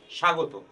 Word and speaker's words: স্বাগত: যে নিয়মটি সেটি হচ্ছে আদ্য ব্যঞ্জন বর্ণে ব ফলা সংযুক্ত হলে সে ব ফলার কোন উচ্চারণ হয় না যেমন ধ্বনি তক স্বদেশ স্বাগত আমরা চারটি উদাহরণের কথা